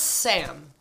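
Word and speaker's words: 쌈: they say then less is more it's literally pronounced sam or making sam's spelled s-s-a-m perfect and it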